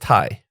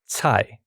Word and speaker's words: Thai: right yes and it's pronounced tai yes tai tai what is the origin of your last name if you don't mind me asking so so in chinese is actually pronounced tsai yeah so it's like